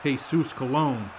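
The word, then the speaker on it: Jesús Colón: game and jesus colin made it very clear that his name is pronounced jesus colon but i'm not calling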